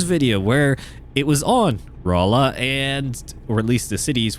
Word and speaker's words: Rolla: of drove him nuts was my pronunciation um of well Raa uh but I kept calling it roll up and unfortunately I noticed